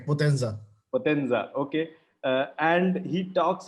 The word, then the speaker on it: Potenza: is that how you pronounce it? Right. Potenza.